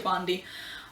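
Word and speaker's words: Sabaody: I think people pronounce that differently, but I pronounce it Shabandi.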